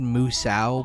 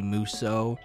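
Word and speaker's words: Musou: know how to pronounce I've always said Musa but I believe it's actually muso so that's how I'll say it but feel free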